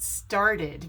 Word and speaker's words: started: or started yes it started because it ends in a t so you need to pronounce the ed as an id sound now pronounce this word